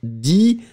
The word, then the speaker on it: dit: Il, elle, dit, D-I-T. T not pronounced.